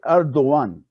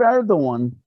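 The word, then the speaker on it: Erdoğan: khan excuse me like erdogan the g is a soft and it's not pronounced basically with the line over it in turkish what did erdogan learn from this from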